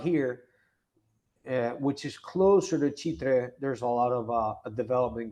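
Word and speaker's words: Chitré: The question is, I believe it's pronounced Chitra, if that is an up and coming area. Is that true? I'll share you the map, but it's called Chitre.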